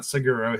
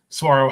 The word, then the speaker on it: Saguaro: that live in Arizona it is not siguro it is tomorrow Saguaro High School building that